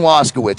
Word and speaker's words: Waszkiewicz: Okay, so Waszkiewicz.